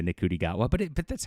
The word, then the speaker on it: Ncuti Gatwa: know it grates some people that I say nikudi gota but but that's how you spell it.